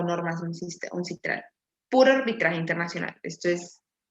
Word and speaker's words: UNCITRAL: La ley es uncitral o normas uncitral. Puro arbitraje internacional. Esto es base top. Se dice las leyes son citral. Uncitral. Uncitral. In English, will be pronounced like ancestral. Ancestral.